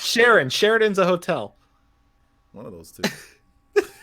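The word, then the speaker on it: Sheeran: demonize demonize by Ed Sheridan right is that is that the hope that's coming Sharon is it Sheridan or Sharon it's Sharon Sheridan's a hotel was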